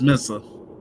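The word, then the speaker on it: Mensah: It's Mensa.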